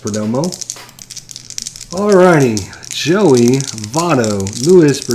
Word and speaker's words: Perdomo: for dirt for Domo Perdomo thank you pronounced Perdomo alrighty Joey Votto Lewis